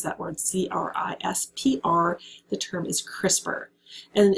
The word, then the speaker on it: CRISPR: really really cutting edge of biotechnology is called crispr and that's how you pronounce that word c-r-i-s-p-r the term is crispr and it's a it's